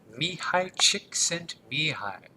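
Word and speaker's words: Csikszentmihalyi: Mihi chicksent mihi, that's how you pronounce the guy's name.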